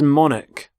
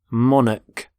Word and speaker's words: monarch: current queen so monarch so the CH there makes the sound Manik the start of the